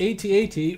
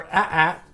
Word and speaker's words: AT-AT: story is called the 8080 or a tap depending on who you are and which way you want to pronounce it I've heard it both ways I've heard it many different times both ways but I still call it 8080 that's why I grew